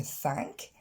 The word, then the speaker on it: thank: Remercier, to thank, c'est un vrai A, et je vais vous laisser répéter après moi.